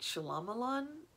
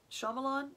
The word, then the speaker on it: Shyamalan: bit creepy but kind of like M night Shyamalan Shyamalan and I've said it wrong for so many years M night Shyamalan movies you know where it's creepy but kind